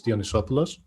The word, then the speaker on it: Dionysopoulos: i'm going to do it for you it's dionysopoulos i'm greek i'm a geek i'm not a